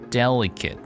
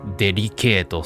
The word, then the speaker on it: delicate: Delicate. Not. This is really, in katakana English, we are pronouncing it delicato, so delicate.